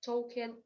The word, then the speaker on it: Tolkien: То есть мы звук Л не произносим. Буква Л не дает нам никакого звука.